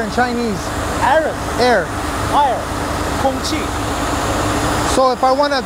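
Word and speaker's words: 空气: Kong qi. So if I want a Chinese guy to build a barrier, I say Kong qi? Kong Chi.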